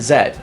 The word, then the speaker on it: Z: As we're going to call him Z, it's like, no, do the British pronunciation, to Zed, and Z, X and